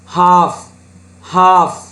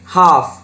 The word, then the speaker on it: half: first one half. දැන් බලන්න ඉල් අකුරු උච්චාරණය වුණේ නැහැ. half.